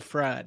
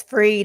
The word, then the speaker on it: Fried: It's still fried. That helps. It's Freed. It's Sam Bankman Freed.